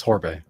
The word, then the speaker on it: Horbe: Is it Orbe? Horbe. How do How do we say this? Just the way it looks. Horbe. Orbee.